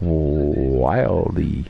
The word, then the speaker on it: Wilde: Is it Nick Wilde or Nick Wilde? Yeah, it's Nick Wilde. I think the E is silent.